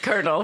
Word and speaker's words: colonel: it's only cool but we say it colonel for sure there's not even an r in there it's so ugly